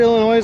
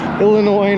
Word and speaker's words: Illinois: their numbers by comparison illinois not illinois you don't pronounce the s in illinois if we're on this